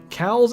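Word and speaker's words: Coues: pronounce pronounce deer no cows is technically the proper pronunciation though most who hun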